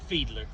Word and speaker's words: Fiedler: Fiedler. Can you spell that? Fiedler. Okay. So it's kind of like Fielder, but a little different.